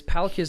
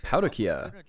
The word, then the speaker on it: Palkia: Yeah, it's just the Japanese kind of like pronunciation of it. Palkia. So we just say Palkia, it makes it easier for us.